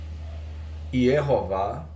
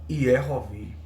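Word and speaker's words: יְהֹוָה: E qual é a pronúncia que tem no texto maçorético? Iehová. E em algumas partes eles colocam Iehovi.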